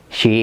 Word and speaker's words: she: She is a teacher. She's a teacher. ¿Ok? Este SH se pronuncia como sh, el sonido.